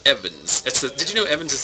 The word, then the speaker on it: Evans: My name is Evans. I'm Welsh. I got 2 syllables. Evans.